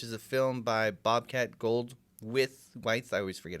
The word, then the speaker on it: Goldthwait: Saw Willow Creek, which is a film by Bobcat Goldthwait. I always forget how to say his name. Goldthwait.